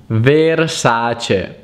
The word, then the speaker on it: Versace: the water san pellegrino la then we have versace versace versace it's actually versace versace versace another one is bulgari bulgari bulgari